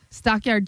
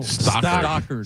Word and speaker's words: Stockard: Next on my list is Stockyard Channing. Oh, Stockard. Stockard. Stockyard. It's You shouldn't Stockyard. get him because he can't pronounce the name.